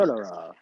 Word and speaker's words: Stolyarov: I believe his name is Gennady Stolyarov. Don't hold me to that. The second. Stodorov.